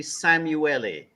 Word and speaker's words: Szamuely: into the topic that you you got my pronunciation more or less right but it's actually samueli Samui Dr samueli would you rather us be